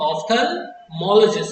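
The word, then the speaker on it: ophthalmologist: ऑफ्थल्मोलॉजिस्ट। याद रखेंगे, pronunciation बहुत इंपॉर्टेंट चीज है।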